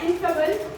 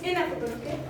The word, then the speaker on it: ineffable: inable it's ineffable it's not inable it's ineffable okay you he